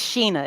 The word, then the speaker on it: Shana: your first name it's Sheena it's spell like Shea but it's pronounced Sheena Sheena so Sheena okay